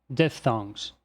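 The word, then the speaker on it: diphthongs: você esteja se perguntando a pronúncia disso aí é deftomos Deftones Então vamos lá vamos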